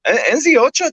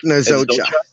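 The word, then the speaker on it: Nzeocha: Mark Nzocha. Nzocha, yeah. The E is silent.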